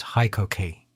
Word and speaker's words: HiKOKI: On October 1, 2018, the power tool brand changes from Hitachi to Hikoki, pronounced Hikoki.